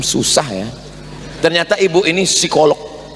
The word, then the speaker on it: psikolog: Ternyata Ibu ini psikolog. Tulisannya psikolog. Bacanya p-nya hilang. Psikolog.